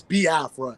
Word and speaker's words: Biafra: how to pronounce it some people say B Afra because they don't really you know overstand the you know the pronunciation when it comes to the i e sounds but it's B Afra because even myself even